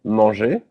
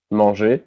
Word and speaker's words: manger: The first group is composed of all the verbs that end with the letters ER, which is pronounced E. So, for example, the verb manger, manger, which means to eat in French, is part of the first group.